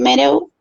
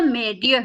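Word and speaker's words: Meirieu: Bueno, em, he encontrado tres imperativos pedagógicos en los que se fundamenta, digamos, la conferencia de Philippe Mereau. ¿Cómo se dice, profe? Se pronuncia Merieux.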